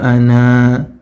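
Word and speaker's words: أنا: Tapi di sini sangat riskan sekali ketika seorang tidak memahami bahwasanya alif pada kata ana ini seharusnya tidak dibaca ketika wasal, maka dia akan berpotensi membacanya dengan mat.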